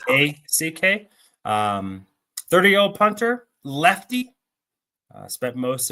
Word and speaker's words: Haack: I've heard it's pronounced Hawk. It's I think it is Haack.